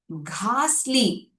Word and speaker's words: ghastly: Ghastly, ghastly, hard G sound.